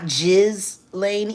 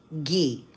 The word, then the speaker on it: Ghislaine: Oh, by the way, Tisa, that's how you pronounce her name. Not Jiz Lane, even though it's kind of cute, you know, like Jizz, but no, it's Gee.